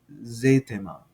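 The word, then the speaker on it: ζήτημα: That's because eta is, and you see here that you got an E with a long, a macron over the top of it, which is indicative of a long E sound. So it actually sounds like an A, zet, zetema, right?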